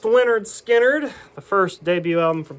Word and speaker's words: Lynyrd Skynyrd: Pronounced Lynyrd Skynyrd, the first debut album from Lynyrd Skynyrd.